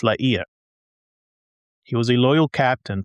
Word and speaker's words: La Hire: The French general, Étienne de Vignolles, whom I have been referencing throughout the episodes as La Hire, is actually pronounced La Hire.